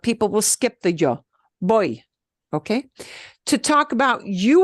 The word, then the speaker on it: voy: Voy, Boy.